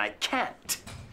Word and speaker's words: can't: Now, fijaos en la pronunciación de esto, porque claro, hay una T que distingue la afirmación con la negación. I can and I can't. Pero también, si te das cuenta, cuando lo dije, dije I can sin ningún acento. I can do it. I can. No hay A. Y la negativa, I can't, acento en la A.